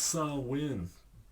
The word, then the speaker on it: Samhain: their albums right here the band is called Samhain the albums I have are initium and November coming fire well technically it's pronounced salwin whatever um I've seen interviews that Danzig did